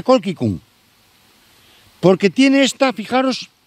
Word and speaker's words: colchicum: Fijaros que ahora se le llama colquicum, se escribe colchicum, se pronuncia colquicum, porque tiene esta, fijaros, 6 estambres, 3 más cortos, 3 más largos.